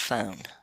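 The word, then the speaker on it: φωνή: And when you look in Revelation 19:17 and 18, you'll see that the word for the loud voice is actually phone, and it's pronounced phone.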